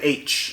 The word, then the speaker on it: Aech: from his best friend h a e c h but pronounced like the letter H we find out that